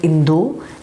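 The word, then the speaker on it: インド: examples for example India in Japanese is called indu it is not called India it is called Indo and it is written like this and it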